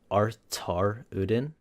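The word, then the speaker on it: Artaruddin: because it's short but I mixed the art and azaruden together so it's artar Udin it's weird yeah yeah feel free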